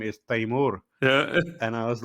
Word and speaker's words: Tamoor: Tamoor, no, no, it's no, it's Taimur.